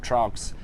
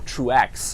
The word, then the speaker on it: Truax: fighting you know Caleb trunks and true or true axe I should say you know I